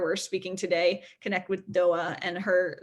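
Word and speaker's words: Doğa: do, given where we're speaking today, connect with Doa, and her name is spelled D-O-G-A.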